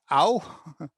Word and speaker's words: au: pronounce for english speaking an au which ow it's almost like a w at the end ao ow which is